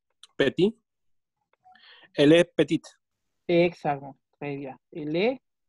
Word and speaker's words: petite: Pero cuando hablo de la niña, ahora ya suena la T. Elle est petite, agregó la E y ahora la T se pronuncia.